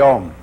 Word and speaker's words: Om: Now can be written in Roman letters either as O M or as AU M. O in Sanskrit is analyzed into A and U. A U M the four element syllable.